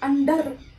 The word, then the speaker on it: under: Because it's sometimes mispronounced by people. Like under, whether. Well, it is wrong. Now there is a rule I would like to tell you over here. The R or the R sound over here is only pronounced when it is followed by a vowel.